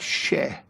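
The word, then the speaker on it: še: Now, the word for barley in Sumerian is pronounced like sheh.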